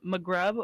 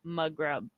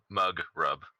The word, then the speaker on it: Mugrub: Where's the emphasis on your name? Is it Magrub or is it Mugrub? Mug rub. Mugrub. You put the right emphasis on the wrong syllable.